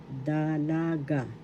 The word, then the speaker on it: dalaga: the example unmarried lady Dalaga first syllable the second syllable la third syllable ga